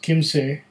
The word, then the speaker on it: Kymsee: bottom there but this is a German whiskey pronounced Kim say from Bavaria Kim say is the name of